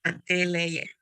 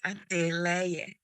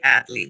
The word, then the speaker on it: Adeleye: My name is Adeleye. Adele. I'm so sorry I'm saying your name wrong. Adele. Miss Adele, how do you know Tokes Adele? It's Adeleye. Adeleye. But you can say Adley, that's fine.